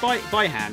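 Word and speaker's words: Bi-Han: MK11, they pronounce it Behan, but they've also pronounced it Byhan, so either way goes, right?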